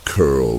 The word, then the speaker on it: Carol: She told me about a boy named Carol, you say it like Curl, not like the woman's name, who went missing on the trail to the old tipple.